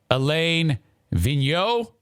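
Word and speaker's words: Alain Vigneault: just fired their coach elaine vigno i believe is how you say it after losing their ninth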